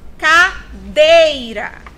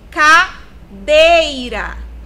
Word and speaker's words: cadeira: Cadeira. Cadeira. Dei é a sílaba tônica dessa palavra. Ela está aqui no último? Não. Ela é a penúltima.